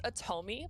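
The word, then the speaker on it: otome: the name of this style of game it's atomy it's spelled o-t-o-m-e it's a novel style story where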